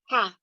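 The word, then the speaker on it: 蝦: And the funny thing, happy thing about it is the Cantonese pronunciation of prawns is ha.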